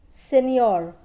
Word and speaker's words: signor: Signor, G is silent and it's an Italian word which means Mr.